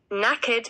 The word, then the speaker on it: knackered: is I am knackered this word has a funny spelling it doesn't really sound how it's spelled but that's kind of what most of the English language seems to be like anyway naked means I am tired